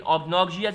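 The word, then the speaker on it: obnoxious: अब आगे देखें, choose the correct synonym of ऑब्सनॉक्सियस। ऑब्सनॉक्सियस कहते हैं इसको, ठीक है, कुछ लोग ऑब्नॉक्सियस भी कहते हैं, लेकिन ऑब्नॉक्सियस इज the correct pronunciation.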